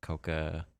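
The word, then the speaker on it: Kouka: how to say it k-o-u-k-a coca i guess is that right yeah you just say the o for a little bit longer okay yeah there you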